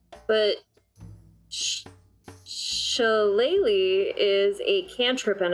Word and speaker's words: shillelagh: It's shillelagh is how you say it.